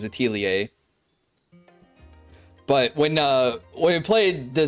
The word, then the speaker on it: Atelier: Atelier. Anyway, basically, if you want to be a snob about it, you basically don't pronounce the R and it becomes Atelier.